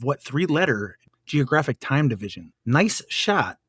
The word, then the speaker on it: gneiss: So this first word, I got to pronounce correctly. Nice.